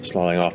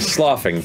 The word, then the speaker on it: sloughing: Slawing off and kind of remaining. Slawing off, damn it, Matt! Slawing off! Slawing off! Sloughing, as I've learned to pronounce it properly.